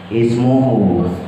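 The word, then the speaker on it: اسمه: Nah, dibacanya asmuhu apa asmuhu apa ismuhu. Lihat di bawahnya tuh saat waqaf atau was waman azlamu mimamaidallahi hasmuhu wasa. Maka yang kita baca adalah ismu. Ismuhu.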